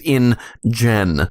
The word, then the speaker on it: InGen: we should point out, when we say InGen, we don't mean any offense. It's spelled I-N-G-E-N, it's the name of the company, it's not a slur, but it does sound like one.